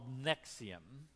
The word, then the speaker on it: NXIVM: fascinating documentary um on something called nexium uh you know it's weird just by the way it's spelled it's all capital letters nxivm anyway it's a corporation